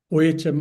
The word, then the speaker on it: Om: But when you are joining, writing the Om alone, then it should be OM. That's all. Neither AU M nor A HM. The correct pronunciation will be OM.